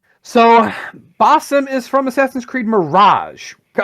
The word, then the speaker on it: Basim: You may have to help me pronunciation here, but I believe it's Basim Ishak? Basim. Thank you. Basim.